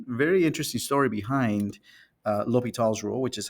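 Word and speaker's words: L'Hôpital: a history and very interesting story behind uh L tall's rule which is how I pronounce it some people pronounce it laas La Hospital's rule or the hospital's theorem as is written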